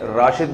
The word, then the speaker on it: راشد: ہمارے قومی ہیرو تھے، ان کے والد نے ان کا نام راشد رکھا تھا، رشید نہیں رکھا تھا۔ تو زبان کے اختلاف سے نا تھوڑا سا تلفظ میں فرق آ جاتا ہے۔ ایک ان کا مورخ